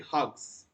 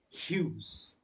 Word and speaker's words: Hughes: poetic persona ted hughes don't you pronounce us ted hugs it's ted hughes who is he i